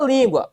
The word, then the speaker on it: língua: O item A fala língua. Opa, língua. Língua tá na penúltima sílaba. Língua, regra de quem? Se está na penúltima sílaba. Paroxítono.